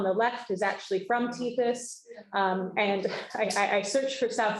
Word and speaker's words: Tethys: site that's called, and I always pronounce this wrong, I think it's Latin, but Tethys is, I think, how it's pronounced.